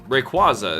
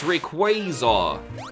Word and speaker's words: Rayquaza: for example like uh Rayquaza his name comes from Quasar they're like no it's Rayquaza well that sounds awful